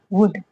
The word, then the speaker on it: would: Okay, spelling क्या है इसकी, SHOULD, शुड। शुड मीन्स चाहिए। WOULD, वुड।